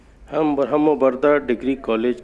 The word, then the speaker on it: Barhambarda: बरमबरगा, sorry, सही pronunciation है बरमबरगा।